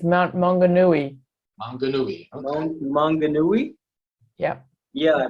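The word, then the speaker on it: Maunganui: comes this is mount i'm so i can't pronounce that name um could you repeat that again please it's mount mongonui yeah yeah right right that picture super that's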